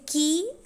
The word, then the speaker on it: key: So what you have to note here is that contrast in k, in key and ski. Key, when you pronounce it, you can find an aspirated stop there, but in ski it is unaspirated.